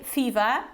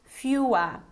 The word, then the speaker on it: fewer: and this is fewer please bear in mind that we can't say fever fever is okay it's spelled with v and here it's fewer okay fewer and this